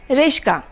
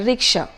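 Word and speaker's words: rickshaw: by the mother tongue take the word Reschke when the correct word is actually a ricksha alright then you have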